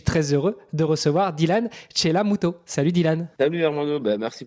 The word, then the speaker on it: Chellamootoo: et le nom, ça va, j'ai bien prononcé, Chelamuto. Chelamuto, ouais, avec 4 O.